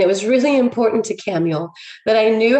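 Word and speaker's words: Camael: it was like it's camuel camuel like samuel but with a ch but it's pronounced with a k and i was like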